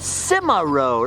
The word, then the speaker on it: Cimarron: company where the actually if these animatronic minors pronunciation is correct this is actually called Cimarron always looked like SEMA to me but I